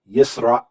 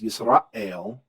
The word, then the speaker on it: Yisrael: You can see this in the Hebrew pronunciation of the word for Israel. Yisrael, Yisrael. There's a pause there. And so when you have that pause, Yisrael, that's that glottal stop.